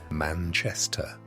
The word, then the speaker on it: Manchester: mattress in a damp cellar room in Manchester, pronounced Manchester.